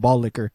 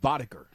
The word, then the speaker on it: Boddicker: Is because that was his last name and he wanted to fuck people up for making fun of ball liquor. I think it might be pronounced Boddicker.